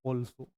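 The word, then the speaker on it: also: वैसे ही अगर यहाँ पे पढ़ें तो इसको हमने लिखा क्या है? ए, लेकिन इसकी प्रोनाउंसिएशन होती है ऑल्सो। अगर ऑल्सो पढ़ते हैं डैट मीन्स इस ए को हम क्या पढ़ रहे हैं?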